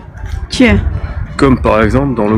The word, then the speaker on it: Ч: Ensuite, nous avons le Ч, Че.